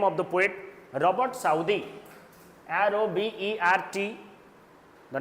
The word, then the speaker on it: Southey: Put the name of the poet, Robert Southey, R-O-B-E-R-T. The name of the poet, Robert Southey, S-O-U-T-H-E-Y, Robert Southey. Sometimes people pronounce Robert Southey, S-O-U-T-H-E-Y. You can pronounce both, Southey, Southey.